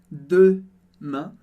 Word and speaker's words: demain: Primeiro de tudo, em demain, a gente tem primeiro o som E, a letra E sozinha tem o som E, por isso eu digo demain, demain. E a segunda parte da palavra, a gente tem o som an, que é um som nasal, que a gente não